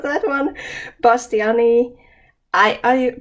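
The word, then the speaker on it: bastianii: i long e because that's the way we pronounce scientific uh names in finland so it's not pastiani eye it's pastyani for me so a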